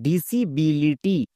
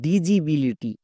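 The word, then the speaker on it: disability: একটি ওয়ার্ড দেখি যেমন ডিসিবিলিটি এই ওয়ার্ডটিকে অনেকে ভুল করে উচ্চারণ করে ডিজিবিলিটি কিন্তু ডিজিবিলিটি হবে না কারণ এখানে দেখো শব্দের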